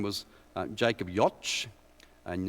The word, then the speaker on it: Jocz: his name was Jacob Jocz, and it's J-O-C-Z. How do you pronounce it? It rhymes with Scotch, okay? So that's how I was told by his son to remember it.